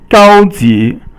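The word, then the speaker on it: 高级: 高级, 高 is 一声 or first tone, and 级 is 二声 or second tone, and it means high level.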